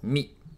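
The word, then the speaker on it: み: with a little Loop is pronounced like the English word me in other words it sounds like me in meat looks like lucky number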